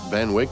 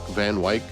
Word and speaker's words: Van Wyck: This week in 1900, the mayor of New York City, Robert Anderson Van Wyck, I think that's how you pronounce it, Van Wyck, Van Wyck, W-Y-C-K, breaks ground for a new underground rapid transit railroad that would link Manhattan and Brooklyn.